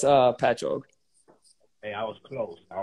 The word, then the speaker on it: Patchogue: How do you think it's pronounced? I asked. All right, yeah, a lot of people say it like that. It's Patchogue.